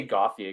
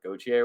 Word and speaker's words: Gauthier: He's American, so let's say Gauthier, because I don't think that they would do like the French pronunciation of Gauthier or whatever.